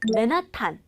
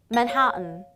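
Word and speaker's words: Manhattan: 여러분 뉴욕의 맨하탄, 이 맨하탄 발음 어떻게 할까요? 맨하탄, 맨하탄 뭔가 막 이상하게 하고 싶지 않나요? 정확한 발음은 맨하튼, 맨하튼입니다.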